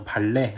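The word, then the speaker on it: ballet: 장면은 발레와 자발 대의에 t 가 들어가 있네요 발레 이렇게 발음해야 되는거 아니야 근데 발레의 프랑스 원과 뭐 어디 그렇기 때문에 요 t 쪽을 발음을 압니다 그래서 발레 라고 하시면 되요 자 발레 랑 사랑에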